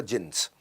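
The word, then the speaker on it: Djinns: अभी भी है हयात रेजेंसी उसमें बेसमेंट में क्लब होता था जिं्स डी जिं्स लिखता था डी साइलेंट होता था जिं्स वो जींस में हम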